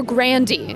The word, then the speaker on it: Grande: it's a grande or grandi because I've heard both I changed our pronunciation of our name to Grande when I was joining backers equity so it was grandi when I was being raised my grandfather was Frank